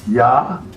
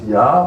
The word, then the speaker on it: ja: E is, the I is pronounced E, and the double E is pronounced A. Means idea. J was yot, and you use the word ya. J-A means yes, ya, or yor, J-O-H-R.